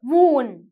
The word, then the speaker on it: wound: Right, so when you have a wound. Now இதை வந்து wound or wound என்று சொல்கிறது இல்லை, wound. Right, when you have a wound. Right, when you have a wound, D is silent.